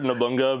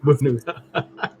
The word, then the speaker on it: Nobunaga: I don't hear Nobunga very often, but it twinges my brain. Nobunaga. Ooga Booga's Revenge.